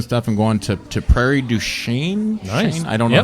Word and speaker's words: Du Chien: I'm going to Prairie du Chien. Nice. I don't know how to pronounce it.